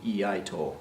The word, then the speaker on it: iaito: Iaito, pronounced again the same way as iaido, iaito, right?